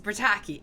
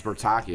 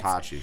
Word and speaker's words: Bertacchi: It's Bertacchi. It's Bertacchi. I thought it was Bertacchi. No, so in Spanish.